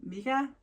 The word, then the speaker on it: Mika: just moved and actually i think you pronounce her name mika not mega but mika um so yeah go check